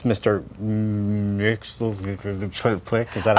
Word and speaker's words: Mxyzptlk: Mxyzptlk. Is that how you say Mr. it? Mxyzptlk. Yeah. Which is how I have always learned to pronounce it.